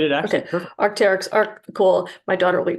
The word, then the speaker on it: Arc'teryx: Am I pronouncing the name You did correct? it actually Okay, perfect. Arc'teryx, cool.